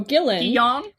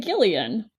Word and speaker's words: Gillan: my last name so Gillan is just like Dylan but for some reason everyone wants to pronounce it Gillian no so again I